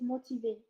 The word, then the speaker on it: motiver: Motivate po in French is motiver. Motivate. You don't pronounce the R? No po, it's silent.